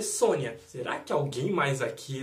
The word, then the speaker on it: Sonja: Ou o nome Red Sonja, que para quem conhece, Red Sonja se escreve Sonja. Mas se lê Sônia, será que alguém mais aqui lembra de Red Sonja?